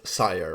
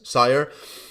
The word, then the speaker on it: 5IRE: be the launch of sire or five that's how you spell it but I've always thought you pronounce it as sire uh new project wanted